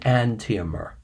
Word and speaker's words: enantiomer: you want to speak clearly and intelligently and antemer by definition enantiomers are stereoisomers that are mirror